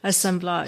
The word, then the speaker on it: assemblage: how do you say the word in assemblage assemblage so one of the definitions that really resonates